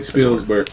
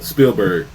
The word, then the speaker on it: Spielberg: No S between that, right?